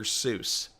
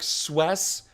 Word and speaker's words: Seuss: Seuss. I know that it's actually a different, it's like Swess or something, because his widow actually came out and said, that's not how you pronounce it.